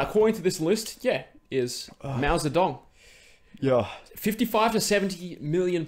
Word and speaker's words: Mao Zedong: than Mao Zedong? Zedong. That's how it's properly pronounced.